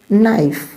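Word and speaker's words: knife: चाकू नाइफ means चाकू लेकिन एन से पहले आप देख रहे हैं क्या है आपको के दे रखा है के का जो है जो प्लेस है वो कैसे है वो आपके एन से पहले है इसका प्लेस तो एन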